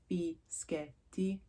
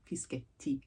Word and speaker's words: Fischetti: Just think of it in sections, so and then Fischetti. Sounds like spaghetti. But yes, in any case, it's a double pressing on the T, Fischetti, like spaghetti.